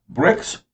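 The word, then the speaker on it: Brix: the sugar current content of grapes and wine bricks or boulmer answer is bricks b-r-i-x that is correct bricks bombay is a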